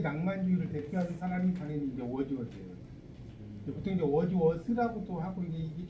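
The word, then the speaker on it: Wordsworth: 하나만 네, 낭만주의가 로맨티시즘인데 그래서 이제 영국의 낭만주의를 대표하는 사람이 당연히 이제 워즈워스예요. 보통 이제 워즈워스라고도 하고 이게 정확하게 영어로 쓸 때는 th 발음이기 때문에 이게 우리가 재밌는 게 이 맥베스잖아요.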